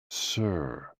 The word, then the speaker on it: si: associated with the heart s i pronounced like sir with a slow exhale which is associated with